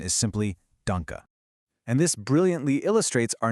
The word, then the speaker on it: Danke: at dke and say danke or donke. But remember, a German e at the very end of a word makes a soft uh sound.